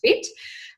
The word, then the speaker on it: FHIT: So yes, I am I run a online fitness business called Fit by, F-H-I-T, but pronounced Fit.